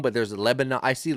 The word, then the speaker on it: Lebanon: I see Lebanon, Tennessee. Yes. Is it Lebanon? I think it's Lebanon. I think you're Lebanon. right. It's spelled the same way, right? We're going to say it the American way.